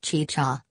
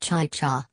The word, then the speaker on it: chicha: said that the making of chicha which is pronounced chicha but which he pronounced ChaCha an alcoholic beverage made from fermented corn was